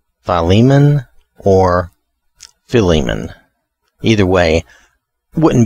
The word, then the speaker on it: Philemon: the correct i'm sorry correct pronunciation would be philemon with a with a long eye at the beginning philemon or philemon either way